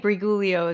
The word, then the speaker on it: Briguglio: symptoms welcome to the podcast Dr brigio right brigio is how you pronounce it yes you did niely right AES